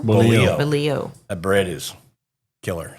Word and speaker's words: bolillo: So torta, how do you say the bread it is? Biolo? Bolillo. Bolillo.